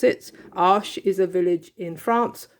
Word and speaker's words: Arches: The paper that most people are using for oil and cold wax is made by Arches or Arches, depending on how you pronounce it. Arches is a village in France where they make the paper.